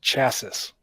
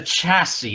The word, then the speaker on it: chassis: he's always pronounced at chasis well I mean it's a chassis not a chasis well he